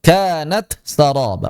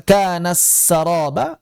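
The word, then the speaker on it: كانت سرابا: ta bertemu dengan sin wasuyiril jibalu fakanat saroba kanat saroba wajib izhar jangan dibaca kanas saroba atau diidgamkan sifatnya saja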